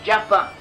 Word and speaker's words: Jaffa: We also, in Cuman, the county of Cuman, we also a place named Joppa, and modern Hebrew Joppa is pronounced as Jaffa.